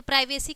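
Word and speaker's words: privacy: ठीक है, तो क्या हो गया, उसका उच्चारण क्या हो गया है, वाई, सी के बाद अगर वाई आया है तो उसका उच्चारण क्या हो गया, स हो गया है, तो क्या है, प्राइवेसी।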